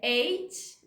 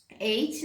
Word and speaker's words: eight: Sex, o sete eu já falei, o oito que é eight, então eight, né, gente? que também tem muito uma questão da pronúncia, que os norte-americanos eles meio que quase não pronunciam esse T do final, é meio que um